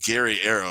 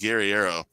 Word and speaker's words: Guerrero: It's pronounced Gary Arrow. It looks like Guerrero, but it's pronounced Gary Arrow.